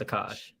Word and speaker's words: Akash: It's Akash. Akash. It's Akash. Akash. Dude, I get Trash Sandwich's Akash. name wrong too, so it's okay.